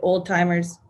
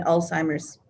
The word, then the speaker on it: Alzheimer's: I admit I was the one who pronounced it old-timers rather than Alzheimer's.